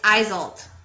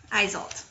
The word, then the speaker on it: Eiselt: jump off so ah i did say it wrong it's eiselt eiselt okay her message when